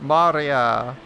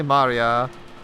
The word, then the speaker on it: Maria: now we have but Mario it should be Maria we are emphasized severally because the circus but yeah six years ago Maria was three years old it should be because it's Maria it's three syllables not Maria uh three is not